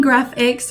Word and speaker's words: Graphix: And I'm saying Graphics, really weird because it's spelled Graphix instead of with a C, so it's technically Graphics instead of Graphic, in case you're wondering, but these are those 4 products.